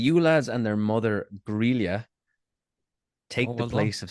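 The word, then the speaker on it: Grýla: The Yule lads and their mother Grelia take well the place of Santa Claus in Iceland. Yeah, I'm not even sure if that's how you say it. It is just sounded Grilla. right. It is Grilla.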